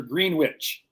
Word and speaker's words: Greenwich: Greenwich. Yep, right. Is it Greenwich or Greenwich? Greenwich, Connecticut. Great question because it is spelled Greenwich.